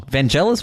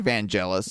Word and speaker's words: Vangelis: basically a Vangelis song vanelis Vangelis how is it pronounced I think it's vanelis vanelis yeah anyway the